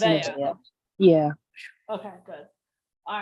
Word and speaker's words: Nevaeh: It's Nevaeh.